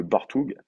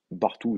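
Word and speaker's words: Bartuğ: Tu parles de Bartoug, Elmaz? On prononce Bartou d'ailleurs. Bartou, on dit.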